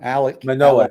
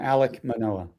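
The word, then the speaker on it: Alek Manoah: do you say his name Casey oh Manoa Alec Manoa thank you yeah Alec Manoa so I'm keeping those three for my pitching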